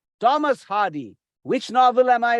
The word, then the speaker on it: Thomas: Thomas is not pronounced as Thomas. It is pronounced as Thomas. Thomas Hardy.